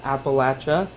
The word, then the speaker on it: Appalachia: a few people and just so everyone knows it's Appalachia and if you don't say it right I'm gonna throw an apple at you so that's a good